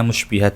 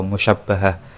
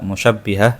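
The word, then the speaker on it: مشبّهة: Bacanya musybihat ya atau musyabbahah. Kalau yang membaca musyabbihah itu kurang pas.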